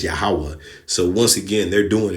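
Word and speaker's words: Yahweh: in in Hebrew okay no v's and e yahovah that's not his name it's yahwah so once again they're doing it wrong all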